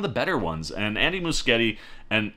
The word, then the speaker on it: Muschietti: I'll never say Muschietti again, outside of that one time. It'll always be Muschietti going forward, and I want to make sure I say it right so other people say it right.